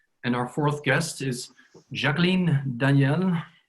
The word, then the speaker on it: Jacqueline: And our fourth guest is Jacqueline Daniell. I pronounce it in French because Jacqueline is now on a holiday, as I know, in France.